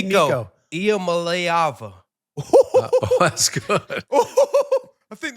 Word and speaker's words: Iamaleava: Nico Iamaleava. Wow. That boy knows his pronunciations.